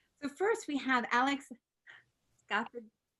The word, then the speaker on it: Scaffidi: So first we have Alex Scaffidi. Scaffidi. You got to do that. Oh God. Oh God. I really butchered it, Serena, last time.